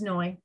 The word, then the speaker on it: Noy: because my name is Noy yes it rhymes with joy and that is my